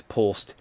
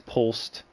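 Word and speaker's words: Polst: Wall will quickly say uh that's Pulse.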